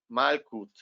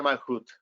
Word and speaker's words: Malkut: bien nos indicaba Mariana, Malkut. De hecho, se supone que se debe pronunciar Malhut, ¿ok?